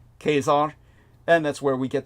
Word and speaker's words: Caesar: the correct pronunciation because kesar in the Latin is pronounced just as if it's with a K Kar and that's where we